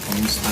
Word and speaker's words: Kumusta: So tell them how to say it properly cuuse if anytime you say tagalog here they love Kusta ka? Kumusta ka?